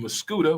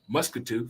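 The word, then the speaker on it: Muscoda: And Jack Nolan's part of the Jeffersons crew over here in Muscuda, which I used to pronounce Muscatoo for some reason. When I first moved over here, I thought it was Muscatoo.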